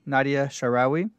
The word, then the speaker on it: Nadia Shaarawi: have a guest with us for an interview, Nadia Shaarawi. Thanks for being with us today. Thank you.